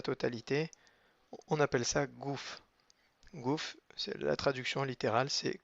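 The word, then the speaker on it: גוף: point à l'intérieur et le P final qui n'a pas de point à l'intérieur donc ça se prononce comme un f fait donc c'est un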